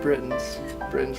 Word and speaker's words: Brittons: Okay, so this afternoon we're here at Brittons clothing store. Correct. Am I pronouncing it right with Lucky?